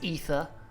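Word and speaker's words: Aether: knows how to pronounce ether being fair it's a bloody tough word who decided AE should be pronounced e e it should be like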